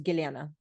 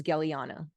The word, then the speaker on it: Gellyahnah: name is Gellyahnah, and most English speaking people pronounce it back as Gellyahnah or some version of Gellyahnah. They can't quite say, you know, like it's not, they don't have the Slavic pronunciation of it.